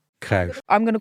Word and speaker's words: Cruyff: Johan Cruyff. Cruyff. Cruyff. I'm going to call him Cruyff.